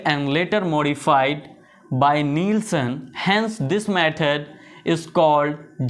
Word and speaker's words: Neelsen: So Jadon stain is a differential staining technique first developed by zeal and later modified by नीलसन। Hence this method is called zeal and नीलसन stand. जिसे spelling नहीं पता है वो देख लें, ZIEHL जील।